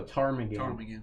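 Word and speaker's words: ptarmigan: I'm going to go tarmagan. I'm gonna say the P is silent.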